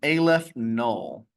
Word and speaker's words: aleph null: The cardinality of the natural numbers is this symbol, which is pronounced Aleph null.